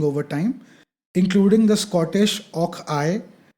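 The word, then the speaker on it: och aye: time, including the Scottish Och-I. I hope I'm pronouncing it right. It's O-C-H-A-Y-E. I is how they say yes, Yes. right? Och-I, or meaning oh yes.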